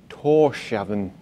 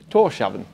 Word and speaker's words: Tórshavn: So we're in the Faroe Islands in Tórshavn, it's written on the side of the ship, but I still can't pronounce it. Tórshavn, yeah, the Faroe Islands.